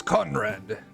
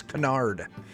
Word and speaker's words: Canard: The name is Conrad. Conrad Larange. No, I'm sorry. It's not even pronounced. It's Canard.